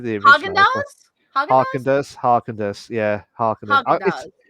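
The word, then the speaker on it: Häagen-Dazs: Get the ice cream Harkender.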